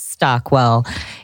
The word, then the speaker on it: Stockwell: That is exactly how it's pronounced. It's Stockwell. It always sounds like it's harder. People make it harder than it actually is. I'm like, it's 2 words.